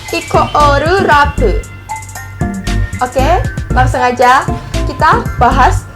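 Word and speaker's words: イコールラブ: Nama grupnya itu Equal Love, atau kalau bahasa Jepangnya biasanya bacanya Ikoru Rabu.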